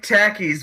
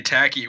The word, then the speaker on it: Takis: I like I like tackis, but like you want Hold on. Hold on. No, I have to say it like that or else Fab is going to like and he doesn't want to talk about it. But if you say tacky, we're going to beat you up.